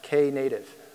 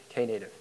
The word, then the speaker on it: Knative: is how it's pronounced Kay native okay there was in the early days some discussion of whether the Kay was silent or not but the correct pronunciation is Kay native the reason it's called